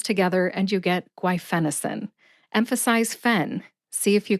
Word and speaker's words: guaifenesin: mind if you are new to the word guenin after you finish listening today I recommend that you practice saying guen until you master it repetition is the key to Mastery guenin has four syllables gu which rhymes with qu